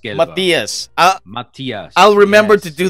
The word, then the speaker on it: Matthias: too much about, but Matthias would be the British pronunciation. Oh, Correct German pronunciation is actually slightly different, but walang problema, as we say here in the Philippines. Matthias Gelber. Matthias.